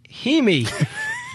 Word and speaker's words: Jaime: Well, it's the I as in the Spanish pronunciation, like Paris, Imi. Just think dreamy Himi.